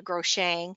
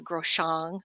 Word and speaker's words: Groshong: And I used to call it a Groshang, but it's called a Groshong.